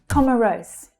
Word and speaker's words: Comoros: Comoros. Comoros. So the stress here is on the first syllable. Com. Comma. Comoros.